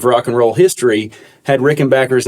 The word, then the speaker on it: Rickenbacker: So he changed the spelling and changed the pronunciation.